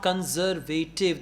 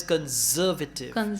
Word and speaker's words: conservative: the word is not conservative the word is conservative we call it stress pattern photography photographer conserve conservative right conservation and all